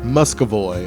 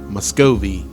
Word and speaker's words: Muscovy: That's a Muscovy or Muscovy, however you want to pronounce it.